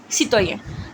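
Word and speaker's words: citoyen: नाउ बेटू French words है ये दोनों के दोनों, तो इनकी प्रोनाउंसिएशन एग्जैक्ट ऐसी होगी, लपात्री एला सितोयेन।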